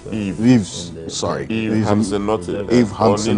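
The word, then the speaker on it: Yves: And then also, Ives Hansen. You got my name wrong. My name is Eve.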